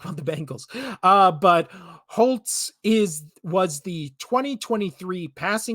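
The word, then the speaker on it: Holz: spelled HZ no T in there but it's pronounced Holtz so why wouldn't you just throw a t in there between the L and the Z but whatever so it's holes but it's h it's pronounced Holtz so in 2023 I was also like who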